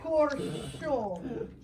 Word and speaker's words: Corcione: Corcione. There's a Corcione. Italian pronunciation, Corcione, but Corcione!